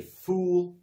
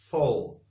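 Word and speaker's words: foal: it is a full don't say fool because fool is stupid it's full so full means a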